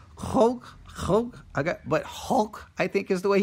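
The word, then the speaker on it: חֹק: It's pronounced hulk. It's kind of like a guttural sound in Hebrew. I've seen it written out like transliteration a lot of different ways. C-H-A-Q. K-H or K-H-O-K-E, I guess.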